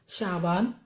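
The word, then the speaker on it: شعبان: जाबा रजब रे जीम बे रजब रजाबा रजब शाबान शीन एन शा बे अलिफ बा नून शाबान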